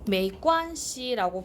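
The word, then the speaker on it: 没关系: 예, 메이관시라고 발음을 하게 되는데 자, 이게 괜찮습니다 라고 우리말로 번역이 되어 있는데 미안합니다에 대한 대답으로 쓰이는 표현입니다.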